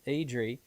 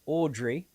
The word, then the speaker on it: Audrey: And then, of course, we had Audrey, who I kept pronouncing her name incorrectly 2 weeks ago as Edrie. It's Audrey.